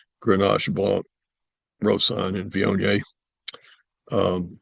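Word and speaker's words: Viognier: It's ganache blanc roan and vion. Um vion by the way is spelled v i o g n i e r.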